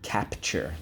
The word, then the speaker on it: capture: have the word capture let's go cap tuer capture okay first syllable cap second syllable tear capture all right so how do we mark this up great on the line the u and the silent e twice draw an arrow back why you got it because in this case silent e makes the you say you i forgot which story it